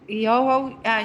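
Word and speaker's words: Ejogo: Eoho? Eoho.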